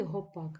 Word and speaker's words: гопак: Справа в тому що в цьому слові гопак наголос буде падати на закінчення А якщо наголос падає